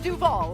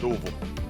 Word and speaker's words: Duval: It's all about what accent you put on the vowel.